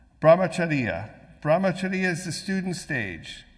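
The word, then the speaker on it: ब्रह्मचर्य: The first stage is brahmacharya. Now that I pronounced it wrong, I'll never pronounce it right. Brahmacharya.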